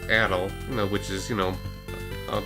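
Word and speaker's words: Adol: me as in the later games adel is pronounced Adil which is you know of the proper to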